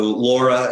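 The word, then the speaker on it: LARA: So Laura, as it's pronounced, will be responsible for implementing Prop 1.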